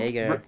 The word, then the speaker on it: Yager: Jerger. Do you spell it with a J or a Y?